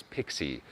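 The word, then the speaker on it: PKCE: Proof Key for Code Exchange, pronounced as Pixie, is an RFC extension to OAuth, and proof that you shouldn't let nerds pick names for things.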